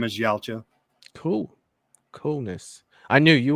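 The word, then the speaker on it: Yautja: even gonna say that word Matt could you pronounce thank you it's yala Predator real name is yaala cool coolness I knew you would know it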